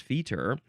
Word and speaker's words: fetor: feted yes feted uh so the Feer I don't know why it's pronounced Feer the Feer is the